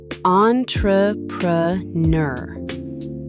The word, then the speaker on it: entrepreneur: Break it into 4 chunks. Entrepreneur.